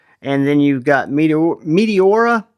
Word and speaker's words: Meteora: Again, you've got a reversible clip and then you've got Meteor Meteora. And the only reason I'm pronouncing it that way is it's Meteor with an A at the end, right?